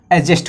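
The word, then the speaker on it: adjust: तो ए यहाँ पे क्या है, ए और जे के बीच में कभी भी डी आए तो उसको साइलेंट पढ़ते हैं, हमको आपने पहले ही बता दिया। ठीक है, तो डी शब्द यहाँ पे साइलेंट हो जाएगा, तो क्या हो जाएगा, एडजस्ट हो जाएगा।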